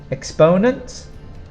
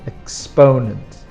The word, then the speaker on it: exponent: Exponent is quite easy to spell, EX and then ponent, but the pronunciation, you put the strong sound on the second syllable. Exponent.